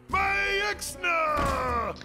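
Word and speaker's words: Maexxna: And how do you pronounce her name? Myxna!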